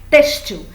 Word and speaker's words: têxtil: Então, se eu quiser que a palavra seja paroxítona, como ela é, têxtil, eu tenho que acentuar a sílaba tônica, porque senão ela vira oxítona por causa da força do L, ok?